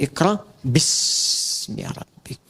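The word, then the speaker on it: اقْرَأْ بِاسْمِ رَبِّكَ: mudah, itulah sebabnya ketika walaupun di sini ada alifnya, tetap dibacanya cepat dan pendek, iqra bismi rabbik.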